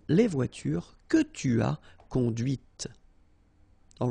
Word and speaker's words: conduite: and then the feminine, conduite. Okay, so here you can listen to this t, t, okay, conduite, all right?